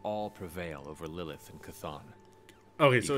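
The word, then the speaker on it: Chthon: that we will all prevail over Lilith and C'thon. Okay, so it's pronounced C'thon.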